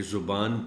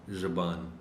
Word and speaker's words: زبان: ہے ایک غلط ہے۔ زے پر پیش ہے تو بھی ٹھیک ہے، زے پر زبر ہے تو بھی ٹھیک ہے۔ سو یہ زبان بھی ہے اور زبان بھی ہے۔ بچے درج